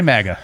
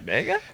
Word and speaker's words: MAGA: No, no, I can say MAGA. I just sometimes with a long a mega mega.